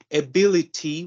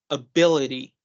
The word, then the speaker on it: ability: Instead of saying ability, we're going to say as ability, Okay. ability.